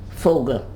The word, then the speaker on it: Vogel: It's pronounced F. Like Vogel is a bird. It's written Vogel. Vogel.